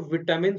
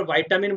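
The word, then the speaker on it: vitamin: देखिए जो विटामिन होता है वो बोलते हैं इसमें ब्रिटिश लैंग्वेज में, पर वाइटामिन बोलते हैं यूएसए वाले लैंग्वेज में। तो प्रोनाउंसिएशन थोड़ा सा इसका डिफरेंट रहता है, विटामिन या वाइटामिन, ठीक है ना।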